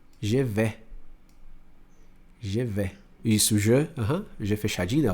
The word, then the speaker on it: je vais: Mas eu vou pronunciar je vais. Je vais. Isso, je fechadinho, ó. Je vais. Je vais bien. Je vais bien. Você vê que o S eu não pronuncio, né?